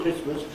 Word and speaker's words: Christmas: But people haven't pronounced the T in Christmas for about 1,000 years. Right? I wouldn't put the clock back that far. Christmas has never had a T.